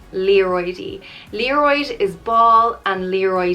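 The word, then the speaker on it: liathróidí: leroy which means balls it's pronounced li a roidy leroidy leroid is ball and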